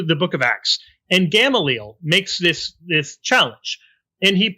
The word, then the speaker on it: Gamaliel: Go back to the book of Acts, and Gamaliel makes this challenge. And he points out that there are all of these people, or Gamaliel, I guess is how people pronounce it.